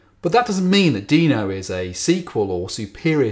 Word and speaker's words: Deno: So I'm going to try and call it Deno throughout, but I'll probably slip into Deno every so often, so apologies now.